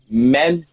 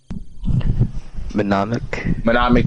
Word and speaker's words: mnemonic: It's a manmonic trick. Did I pronounce that right? Manmonic trick? Mnemonic trick.